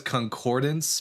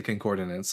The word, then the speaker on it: concordance: I know it's concordance, but I say concordinance like it's just it's a it's it's it's force of habit.